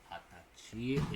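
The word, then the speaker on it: はたち: Hatachi is how you say 20, but then hachi.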